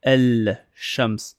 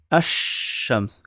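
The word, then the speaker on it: الشمس: On va pas dire El Shams. Faut faire une gymnastique avec la langue. Du coup, on va dire Ash-Shams, comme si il n'y avait pas le lam. Ash-Shams.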